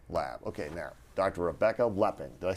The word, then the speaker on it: Lepping: Rebecca Lepping.